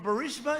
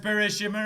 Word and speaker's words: Burisma: never met anybody from barista is it is it barista actually uh it's bushirima is what you said the other day it's pronounced burushima rabbah that i understand because